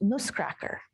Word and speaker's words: Nussknacker: In German, Nutcracker is pronounced ‘Nussknacker’.